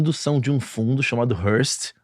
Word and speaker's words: Hurst: Hoje com duas mulheres da indústria da música que estão, na verdade, são de um fundo chamado Hearst. É isso?